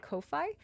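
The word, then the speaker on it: Ko-fi: donate to my uh coffee. I I pronounce it coffee, but some people pronounce it Kofi, but anyways, donate to the coffee.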